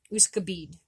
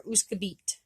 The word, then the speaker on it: Wskôbid: is going to be Wskôbid. Wskôbid or Wskôbit, because again, the D and the T are interchangeable.